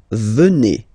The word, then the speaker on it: venez: And then vous venez. Remember a Z combined like that? Et venez. Venez.